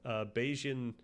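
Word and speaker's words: Bayesian: a set of highle beijian priors. Is that how to pronounce this or do people go crazy with this? I should know this. It's just basian.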